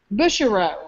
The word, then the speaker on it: Busherow: You pronounce her last name as Bush. Busherow. Busherow. Busherow.